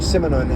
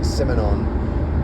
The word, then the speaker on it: Simenon: I feel like I have a pretty good French accent, but for some reason saying Simenon is hard for me. Simenon, I believe, would be a closer French pronunciation.